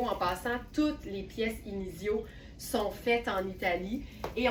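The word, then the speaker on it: Inizio: et que vous cherchez inicio, ça s'écrit comme ça se prononce, I N I Z I O.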